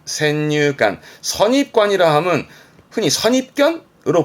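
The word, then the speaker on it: 先入観: 발음 그래서 센유관, 센유관.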